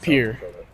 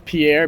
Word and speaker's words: Pierre: your hometown is pronounced Pier for everyone that's from Ohio thinks it's p okay so technically it is Pierre because of like the French guy but uh I think